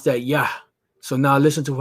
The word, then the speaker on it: Yah: a ya and a ha so we would pronounce that ya so now listen to how he pronounces it